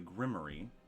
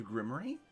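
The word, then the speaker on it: Grimmerie: then later is gifted the grimy which is another way of saying grimo because that man didn't know how to pronounce it uh oh you guys didn't know that the grimy is said that way because the wizard was uneducated and didn't know how to say grimoire so he said grimy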